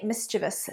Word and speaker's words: mischievous: The children were very mischievous today, not mischievous. Mischievous. So the syllable stress is on the first.